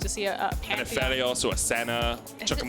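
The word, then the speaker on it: Aphelios: It's a Phelios, yeah, because he's a fella. He's a fella. That's not where it comes from at all, but that's how I use it to remember how to pronounce it.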